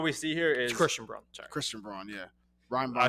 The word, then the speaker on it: Christian Braun: i think it's baseball i think it's pronounced brown christian it's weird it spells like that yeah it's pronounced brown christian brown casuals always say broad i'm not i've refused